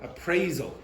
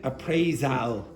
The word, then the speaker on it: appraisal: Appraisal. Do not pronounce it appraisal. It's appraisal. Appraisal.